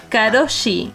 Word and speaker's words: karoshi: que es karoshi, el nombre de la enfermedad. bien, ¿eh? Pero esa es la Karoshi pasta es de una mamá.